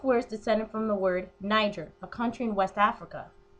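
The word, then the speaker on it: Netjer: The N-word was spelled N-E-T-J-E-R, pronounced nig, which meant God.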